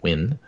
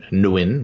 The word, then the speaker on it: Nguyen: And I pronounce it the Southern Vietnamese style of Nguyen. Oh. As opposed to Nguyen, which is more northern.